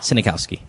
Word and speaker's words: Sniegowski: But it's it's but it's pronounced Synikowski.